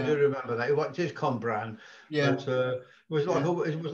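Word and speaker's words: Cwmbran: It is Cumbran.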